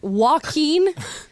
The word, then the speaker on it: Joaquin: put that out there Joaquin if you've never seen the name Joaquin and you you hear that it's perfectly reasonable to think it would be w I don't know what